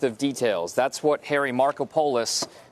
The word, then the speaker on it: Markopolos: details that's what Harry Markopolos that's how they're telling us to pronounce his name Marco Polo yes we've been getting it wrong for the last few